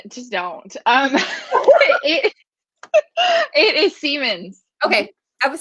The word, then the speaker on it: Semans: It it is Semans.